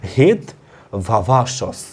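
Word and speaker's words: হেত্বাভাস: এবং সবশেষে রয়েছে আমাদের যেটা হচ্ছে হেতোভাবাস, বা আমরা কি বলছি এটা উচ্চারণ এইভাবে করতে পারো, হেতভাবাসস, অর্থাৎ যাকে ইংলিশে বলছি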